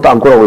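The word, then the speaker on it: танк: 우리가 신문 보니까 별명이 통일부 땅꼬라고 그러던데 저 러시아 말로는 땅꼬라고 읽습니다.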